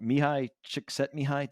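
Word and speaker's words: Mihaly Csikszentmihalyi: Mihai Csikszentmihalyi.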